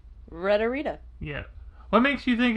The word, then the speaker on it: Retta: Retta. Retta. That's just another R. Rita.